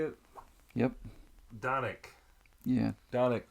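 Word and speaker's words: Dončić: Luca donovic how do you say it yep donik yeah donik d d donik he took the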